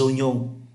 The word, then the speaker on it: Oignon: Để chúng ta để ý tới cái cách đọc OVE, là bình thường phát âm là oa, OVE là oa, nhưng ở đây phát âm là o, đây là trường hợp đặc biệt.